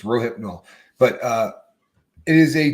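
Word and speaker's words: Rohypnol: no mistake people is row hip no right it's three syllables uh I've heard this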